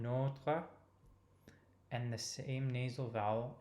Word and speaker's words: notre: Donnez-nous aujourd'hui notre pain de chaque jour. So again, open O in notre and the same nasal vowel in pain.